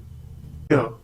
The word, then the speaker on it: vier: Vier. Once again, vier. The pronunciation is similar to the English word vier. We have already learned that the German V has the same sound as the English F.